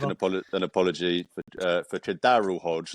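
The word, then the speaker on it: KhaDarel Hodge: apologize would like an a an apology for Kadar Hodge not whatever you just tried to mispronounce um unfortunately I'm sorry it's a Kadar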